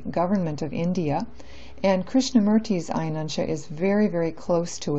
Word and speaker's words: Ayanamsha: Sometimes it's spelled like Ayanamsha, but the correct pronunciation is Ayanamsha.